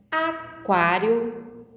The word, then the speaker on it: aquário: Aquarela, aquário, quadro. A letra U é pronunciada aquarela, aquário e quadro.